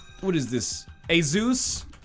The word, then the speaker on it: ASUS: ] what is this a zeus and i think that's actually how it's pronounced i used to call it asus but then people are